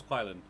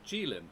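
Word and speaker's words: Qilin: Jaylen, I didn't know that's how it's pronounced. Um, I thought it I had always thought it was Kylin. Um, it's the the the Chinese unicorn. Um, oh, it's pronounced Jin. Gilin, apparently.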